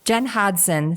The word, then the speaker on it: Hodgson: Jen Hodgson. So the G is silent.